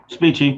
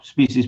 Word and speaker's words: Specie: Is that how you say it? Did I get it right? Close. Speechy, but species pretty good.